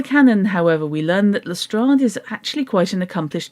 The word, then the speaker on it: Lestrade: I have heard it pronounced Lestrade and Lestrade.